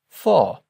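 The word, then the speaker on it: vor: for in front of for Don't forget that our V's are pronounced like Fs for in front of.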